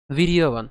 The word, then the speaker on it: বীর্যবান: ঠিক আছে, তাহলে আমরা আবার উচ্চারণ করছি উত্তমৌজাশ্চ। ইউধা মন্যুশ্চ বিক্রান্ত উত্তমৌজাশ্চ বীর্যবান, বীর্যবান।